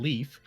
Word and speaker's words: Leif: I mean, it's already patently bullshit because they pronounce Leif's name Leaf, so Yeah, everyone that's- can just fuck off the edge of my dick.